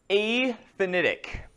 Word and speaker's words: aphanitic: The first texture is aphanitic. That's how you pronounce that.